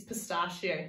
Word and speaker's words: pistachio: Oh ch ET and our last word is pistachio say pistachio pistachio is a talk would not